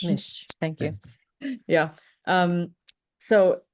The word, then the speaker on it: Mich: for us is that it's Mish like fish Mish thank you yeah um